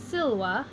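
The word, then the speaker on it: silva: singular underlining the stem breaking it into its syllables and accenting the first of the two syllables so SIL WA and SIL why this word is a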